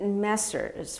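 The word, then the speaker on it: Messrs.: I pronounce it Messers, which is the plural of Mr.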